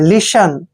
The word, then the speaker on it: listen: Next word देखिए, LISTEN, जब भी एस के बाद टी आता है तो टी वहां हमेशा साइलेंट होता है।